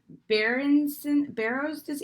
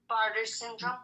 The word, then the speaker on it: Bartter syndrome: Kyley suffers from Barrow's disease. How do you say it? Bartter syndrome.